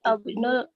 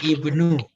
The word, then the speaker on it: ibnu: Ainuman anta ani abnul madrasah. Nah, ininya memang harus teliti ya titiknya. Kemudian ini adalah ba dan ini na. Jadi dibacanya ibnu.